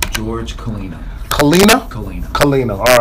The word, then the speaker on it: Colina: good you saw great great start the correct pronunciation of your name George come clean up clean kalenna all right so that is chief first off